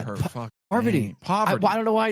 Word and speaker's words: Parvati: Because it's spelled weird, and Jeff calls her by what I just said. Well, do you know how people shorten it to Parv? That's a great indication of how to say I'm just gonna call her Parv.